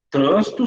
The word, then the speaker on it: trânsito: palavras trânsito e trânsito trânsito substantivo trânsito verbo a classificam respectivamente como proparoxítona paroxítona o trânsito separar sílabas